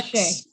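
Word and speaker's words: Xie: Shea. Yeah, Okay. X is pronounced like SH. Okay, so Dr.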